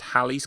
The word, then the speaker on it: Halley: is that um because I would pronounce it Haley's Comet but it's actually pronounced Halley's Comet really and apparently like